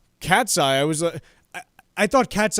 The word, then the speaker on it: KATSEYE: actual piece with that, I didn't even know that's how it was pronounced. I thought it was because it's spelled Katseye with no spaces or apostrophes. I thought it was like Katseye.